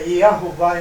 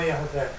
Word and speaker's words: Yahová: Irreová, e não Irreavé. Irreavé. E por que eu entendo que, pelo fato de seu nome próprio, é Yahová e não Yahvé?